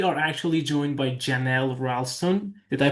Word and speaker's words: Rawlston: Today we are we are actually joined by Janelle Rston. Did I pronounce it correctly?